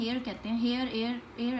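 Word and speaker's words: heir: ठीक है, लेकिन अकबर चूँकि बादशाह था उसको अपना एक वारिस चाहिए था जिसको एयर भी कहते हैं, एयर एक्चुअल प्रोनाउंसिएशन, जिसको एयर कहते हैं.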